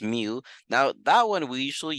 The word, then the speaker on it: mu: mu is pronounced meal even though looks like a u it's pronounced mu now that one we